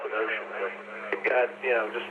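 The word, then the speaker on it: Wouxun: or go through a Mandarin or something, they pronounce the ocean. They've got, you know, just like with the mouth bag and everything else, you got stuff all over the map. You know, Wson and and stuff like that, but ocean's how they pronounce.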